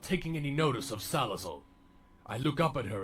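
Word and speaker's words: Salazzle: And I voiced the character Riley, whose antics would piss off his friend and especially his master Salazle, or as I mispronounced it as Salazor at the time.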